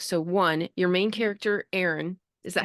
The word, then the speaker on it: Aaron: So one, your main character, Aaron, is that how you say it?